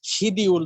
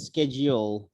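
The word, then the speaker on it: schedule: স্যার ওই যে সময়সূচি আছে না স্যার, একটা শব্দ মানে ইংলিশে যে বলে শিডিউল, স্যার আমরা বাঙালিরা বলি, কিন্তু স্যার এটার উচ্চারণ কি হবে? আরে আমেরিকানরা বলে স্কেজিওল, আর ব্রিটিশে বলে শিডিউল।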